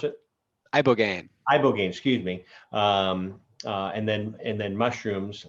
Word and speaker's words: ibogaine: How do you pronounce it? Ibogaine, excuse me.